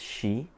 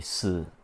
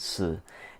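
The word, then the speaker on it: Shi: to call it as She, but it's supposed to be Si. So the H is silent, Si, and because her name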